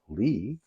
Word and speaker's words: Leigh: Lee bgo and yes I see how she spells Lee but I did go up look up a few videos on how she pronounces her name and I will I will go with whatever somebody wants their name pronounced as and Lee is what what I hear when she says it so that's what we're going for this is um The